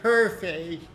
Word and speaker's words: Hefei: Sometimes they pronounce it Hefei, and sometimes they pronounce it Herfei.